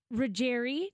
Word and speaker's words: Ruggieri: Melissa Melissa's on the line with us Melissa reri did I say it right you did you